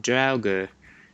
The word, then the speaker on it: Draugr: they're pretty scary and it's it's pronounced i think like drauga and it means the